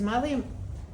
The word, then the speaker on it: Malia: And this is from Malia Mills, or Malia Mills. I mispronounce everyone's name. This is Malia, M-A-L-I-A Mills.